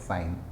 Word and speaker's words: sine: will use sign only I will pronounce it like sign so sine Theta you